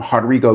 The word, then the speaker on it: Rodrigo: Um, you know, how do you want your name pronounced?" And you said, "Um, Hodrigo."